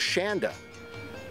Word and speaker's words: Shanda: The photographer today was Shanda. Rhymes with panda.